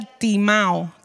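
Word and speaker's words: τιμάω: griego esta palabra es se pronuncia timao t&m y esto significa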